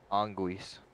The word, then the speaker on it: anguis: Anguis is how you say it.